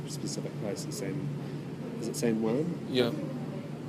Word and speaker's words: San Juan: that's in this specific place in is it San Juan? Yeah. How do I pronounce that? Same one, the farm. San Juan. Yeah. San Juan.